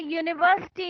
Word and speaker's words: university: an honest there's a university near my house University it starts with vowel but gives the sound of consonant so they will not